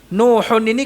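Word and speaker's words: نوح: ibnahu menjadi apa nuhahu Nuhun ini kan asalnya di dalam pelafalannya nun sukun Nuhun Nah itu dibacanya nuhuni kalau disambung dengan ibnahu maka Nuhun yang asalnya di dalam pelafalan itu nun sukun diharakatkan Nuhun menjadi NU huni gitu ya Nuhun ini loh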